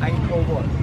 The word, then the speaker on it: Angkor Wat: Oh, how do you pronounce it? Angkor Wat.